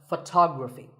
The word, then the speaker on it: photography: next word is photography we say photograph but photography so the first syllable becomes and the stress goes to the second syllable photography so Photography in